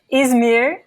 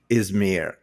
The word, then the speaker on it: Izmir: You come from another city that I'm not familiar with called Izmir. Am I pronouncing it right? It's Izmir. Izmir.